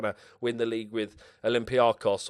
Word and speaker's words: Olympiacos: win the league with Olympiakos or Olympic caucus if you're gonna say it correctly so yeah or if